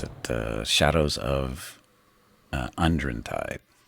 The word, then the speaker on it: Undrentide: Uh Shadows of uh Unren Tide. Not Undertren Tide. They had to spell it differently for some reason.